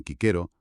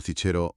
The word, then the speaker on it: Cicero: Pues por ejemplo, la C sonaría siempre como k, dirían kquero, no cichero o cicero.